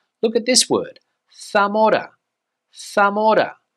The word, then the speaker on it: Zamora: is not JZ but the letter Zed here in Spain especially on Mainland Spain is pronounced as a th sound similar to the way